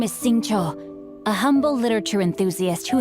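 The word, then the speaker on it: Xingqiu: You know, at least you pronounced it for me, because it's gonna be... I was gonna try to say Sing Q.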